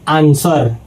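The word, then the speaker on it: answer: अगला है दोस्तों आंसर। यानी कि दोस्तों यहां बीच में डब्ल्यू आ गया है और डब्ल्यू के तुरंत पहले एस आ गया है तो यानी कि दोस्तों डब्ल्यू के तुरंत पहले अगर जो एस आ जाता है तो डब्ल्यू हो जाता है साइलेंट। तो यहां पर दोस्तों डब्ल्यू साइलेंट हो जाएगा। तो इसको पढ़ेंगे दोस्तों आंसर।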